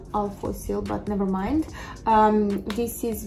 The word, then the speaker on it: Alphosyl: I always mispronounce this, it's Alphosyl, but never mind.